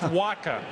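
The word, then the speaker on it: Wacha: even know how to pronounce his name it's pronounced Waka and everybody knows w around baseball now and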